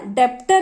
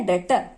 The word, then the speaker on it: debtor: यहां पर मैं लिख रही हूं DEBTOR, डेप्टर इसको जनरली पढ़ेंगे, बट यहां पे बी साइलेंट है, इसलिए हम लोग इसको पढ़ेंगे डेटर।